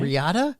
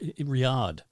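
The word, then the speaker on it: Riyadh: from um Shirley is from R how struggle pronouncing it Rida okay Riata Riata it's in Saudi Arabia oh Riad it's what I said it's Riad yeah exactly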